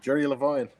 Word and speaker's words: Jerry Levine: And now I know how to pronounce it correctly. Jerry Levine.